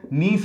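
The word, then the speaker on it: gneiss: हो जाती है यह कन्वर्ट हो जाती है नीस रॉक में इसको नीच बोलते हैं साइलेंट रहता है तो इसका कन्वर्जेंट इसमें आता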